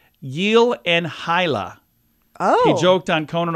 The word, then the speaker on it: Gyllenhaal: it should be Jake Gyllenhaal is surname is pronounced something like yel and hila oh he joked on Conan O'Brien that nobody